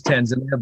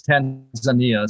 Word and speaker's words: Tanzania: it comes across as Tanzania but it's Tanzania so it's an a in the middle um you probably were